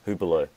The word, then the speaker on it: Hublot: Hublot, yeah. Hublot, what do you Hublot call it? is how you So, I'm so pronounce. bad with Yeah, names. So, that's how you pronounce. Hublot.